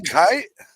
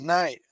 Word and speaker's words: Kite: I thought it was night. No. You really thought it was night? Well, that's how it's spelled online. Oh well, too bad, so sad. There's no N.